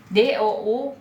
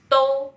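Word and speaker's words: 都: DOU ini bukan dibacanya do ya teman-teman ya, tapi ini to ya. D-nya jadi T ya teman-teman ya.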